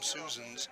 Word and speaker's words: Susans: the second, and Kim Susans, if I'm pronouncing that correct, That's correct.